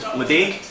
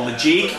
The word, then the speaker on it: Ledaig: The first one we've got is the 10-year-old Ledaig, or Ladaig, however you want to pronounce it, which is from the island of Mull.